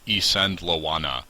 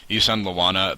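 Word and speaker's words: Isandlwana: uh specifically a battle called The Battle of isand laana I believe is how it's pronounced um Ean Lana the battle that rocked Victorian Britain as it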